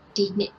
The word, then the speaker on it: ဒီနှစ်: So the first alphabet is Ma. And second one is already combination of Na and It. So we pronounce Nit.